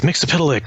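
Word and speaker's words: Mxyzptlk: But they recently featured Mixuspit, is how I always pronounce it. But I also know some very stubborn people say it's Mixapitalik or whatever.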